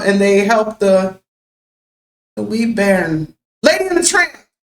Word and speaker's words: bairn: Maybe we're saying it wrong. Say, you wee bairn, so cute.